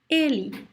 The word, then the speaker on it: ele: See how I pronounce ele. You see the last E, the last E is very weak, and it sounds like E. Ele, ele, ele. Is weak, is short, sounds like a weak E sound.